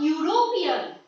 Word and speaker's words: European: A European. European, the word is starting with the letter E, but it is being pronounced like U.